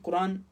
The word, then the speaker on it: قرآن: قرآن کا کیا معنی ہے۔ اب دیکھیں کہ قرآن کے اندر قرآن کا لفظ 60 مرتبہ استعمال